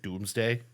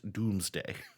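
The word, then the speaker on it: Domesday: m e s d a y but they pronounce it doomsday but what it basically spell it again d o m e s d a y pronounced doomsday.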